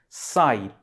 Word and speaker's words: psi: It's pronounced as psi, P-S-I.